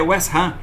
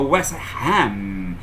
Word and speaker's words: West Ham: Arsenal quando falou Arsenal José falei ok boa pronúncia os ingleses vão entender aí depois diz que vai jogar com outro time é West Ram Fala para ele que hanam é primo carnal